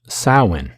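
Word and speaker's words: Samhain: with the fomhain festival it is pronounced sawin you can even look it up and learn how to pronounce it correctly satanic ritual abuse is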